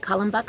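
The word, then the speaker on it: Kalmbach: be from columbus feed and i really like column buck feed um it's spelled k-a-l-m-b-a-c-h but that's here in ohio other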